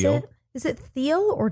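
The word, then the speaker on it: Thiel: pronounce it is it theal or teal I have to imagine that H is silent that's what my gut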